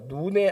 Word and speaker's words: 눈: 그러니까 이제 발음을 하면 눈이 아니고 눈 약간 장음이 나오거든요. 모세가 눈의 아들 여호수아에게 안수했다.